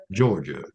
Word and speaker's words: Jorja: Our new rescue is named Georgia. It's spelled Jorja.